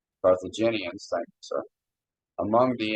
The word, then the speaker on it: Carthaginians: Of this example of the Carthaginian, for lack of better terms, I can't hardly pronounce it. Carthaginians. Carthaginians, thank you, sir.